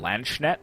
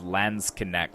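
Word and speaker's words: Landsknecht: these Lance connect and I was pronouncing them Lance net but I found a pronunciation that seems to lean more towards lands connect so basically pronouncing almost all of the letters except for the last e so let's connect so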